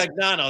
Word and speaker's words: Fagnano: It's pronounced. Fagnano, that was it.